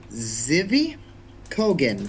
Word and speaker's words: Zvi Kogan: I am going to mispronounce this. I am not sorry. It's not my fault. Zivi Kogan, that's ZVI space KOGAN.